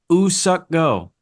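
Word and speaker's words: Woo-suk Go: We've been saying Woo Suck Go's name wrong. Mm, It's not Woo. It's Ooh. The W is silent. Ooh Suck Go.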